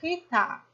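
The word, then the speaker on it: חיטה: O re aqui no final, ele é mudo. Então, a nossa leitura vai ser rita, rita. Porque o re no final é sempre mudo.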